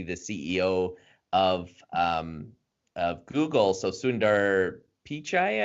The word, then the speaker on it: Sundar Pichai: CEO of Google so sundar Pichai I believe it's how you pronounce his name you guys can correct me but anyways he got